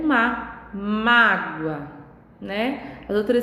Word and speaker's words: mágoa: tônica é diferente né e mágoa a sílaba tônica está no mar magoa a sílaba tônica e já está no gol então elas elas estão